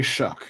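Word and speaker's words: Shough: Like Tyler Shuck, is that his name? Is that how you pronounce it? Tyler Show, yeah. Yeah, I don't. Or Shuck, yeah. Show. They say Shuck.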